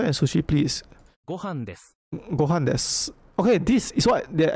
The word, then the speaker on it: です: Well, this is pronounced des, not desu.